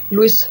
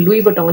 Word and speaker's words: Louis Vuitton: तो ये है लुइस वुइटन का, लुइस है, Louis Vuitton is silent in that. Okay, silent in that. तो ये लुई वुइटन है कि मैंने फर्स्ट टाइम